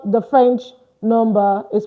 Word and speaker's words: nombres: And we wrote it here, numb, numb, numb, not nombre, not nombres, but what? Numb. Why? Don't pronounce this ES. Leave it. Don't pronounce it. All right? So that's why I say numb.